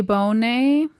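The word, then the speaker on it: Bohne: It was while Francois was traveling that he met a man named Louis Bonet Bone B O H N E. Again, I'm so sorry for all these French pronunciations.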